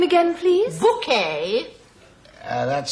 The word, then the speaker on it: Bucket: Richard Bouquet, we have a reservation. What was the name again, please? Bouquet. That's spelled B-U-C-K-E-T.